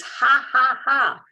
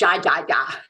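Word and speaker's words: Jajaja: And I believe the correct pronunciation of the name is ha ha ha, which means in English it's a laughter, right? Ha ha ha in Spanish. So it's not ja ja ja.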